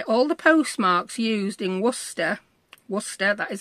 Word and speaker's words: Worcester: It's basically all the postmarks used in Worcester, that is how you pronounce it, we'll talk about that again later, between 1844 and 1983.